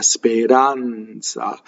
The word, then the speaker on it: speranza: despair ins Spain runs speranza so this R is flipped it's between two vowels the N it phone